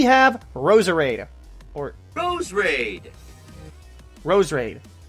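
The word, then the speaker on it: Roserade: Rosarita or those raid rows raid so there's no extra are now how everyone says Rosa raid mismo geus combination of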